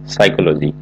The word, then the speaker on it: psychology: খেয়াল করবেন শুরুতে পি রয়েছে PSYCHOLOGY সাইকোলজি.